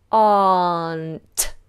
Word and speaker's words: aren't: how to pronounce that we do not concern ourselves with the letter R we open our mouth wide and do aren't aren't you see my tongue